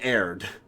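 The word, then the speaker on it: erred: I know where they couldn't say air aired but it's pronounced aired in the place where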